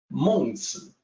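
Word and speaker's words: 孟子: In Mandarin, Mencius is Mengzi, so the sound is quite different from Mencius.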